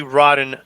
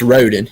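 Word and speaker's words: Rhoden: so what is the rotten uh massacre the that there was a mispronounced rat it's rodent yeah okay they're supposed they misspelled it too it's supposed to be r-h-o-d-e-n but okay gotcha yeah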